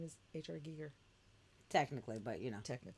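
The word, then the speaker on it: Giger: deliberately tony you know it's pronounced geeger right not geiger so many people say h.r geiger and i'm like what his name is h.r gigger technically but you know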